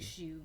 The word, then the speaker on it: Hsu: How's it spelled? HSU? Yeah, HSU. Like Shu? Shu?